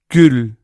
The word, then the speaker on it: gül: For example, the first one was U, This one, ü, ü, ü. Gül, gül, rose.